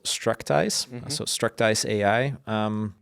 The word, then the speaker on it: Structize: Like a lot of our customers pronounce it as Structurize or something like that.